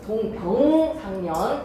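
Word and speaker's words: 동병상련: 동병상년 되겠습니다. 발음 조심하세요. 동병상년입니다.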